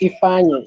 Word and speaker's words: Ifeanyi: Well, it's pronounced Ifeanyi.